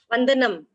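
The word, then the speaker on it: वन्दनम्: How to pronounce? Vandanam.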